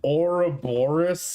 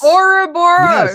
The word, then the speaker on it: Ouroboros: Do you guys really pronounce it Ouroboros? Ouroboros. Yes. Even if you pronounce it correctly, Ouroboros, people still would not understand what you're talking about.